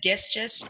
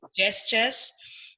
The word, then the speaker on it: gestures: And the pronunciation of, you said gestures, and it's gestures.